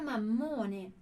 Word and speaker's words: mammone: Porque ele diz: non ne posso più di questa vita da mammone. Non ne posso più di questa vita da mammone, ok? Que olha a dupla consoante e a minha pronúncia, né? Mammone, ok?